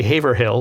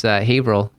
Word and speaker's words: Haverhill: Kudos to you for pronouncing it properly. Most people would say Haverhill, but it's Haverhill. Oh yeah, no, it's. I learned quickly. It's Haverhill.